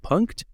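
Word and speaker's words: Punkt: this device it's called I don't even know how to pronounce it it's spelled p-u-n-k-t punked it's a weird you're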